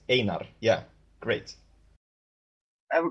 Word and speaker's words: Einar: Well, I just wanted to thank you for pronouncing the names correctly. So it's Einar, and I was saying Einar. Sorry about that. Yeah, you're correct. Einar.